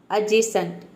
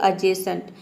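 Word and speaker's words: adjacent: उसी तरह से है एडजेसेंट इसको हम प्रोनाउंस करते हैं एडजेसेंट एडजेसेंट नहीं होता है ये होता है एडजेसेंट एडजेसेंट का मतलब होता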